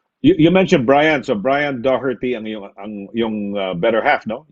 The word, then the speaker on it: Doherty: Doherty, parang ganun ang nadidinig ko pronunciation. So, Doherty talaga ang pronunciation, Doherty? Yes, Doherty.